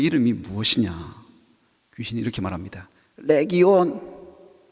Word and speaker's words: 레기온: 레기온. 온자 발음 좀 긴 발음인데 레기온이라고 발음합니다.